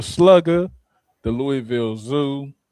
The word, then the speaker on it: Louisville: I'm shouting out Louisville Slugger, the Louisville Zoo. First of all, it's Louisville. Like I said, it's not Louisville.